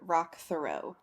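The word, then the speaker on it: Roch Thériault: They call on the last podcast, they pronounce it Rock Thoreau. Thoreau? Okay, that's how I was saying it in, like, I didn't know the rock part, but Rock Thoreau.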